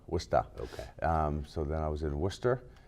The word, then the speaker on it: Worcester: Worcester. Say it right. Worcester.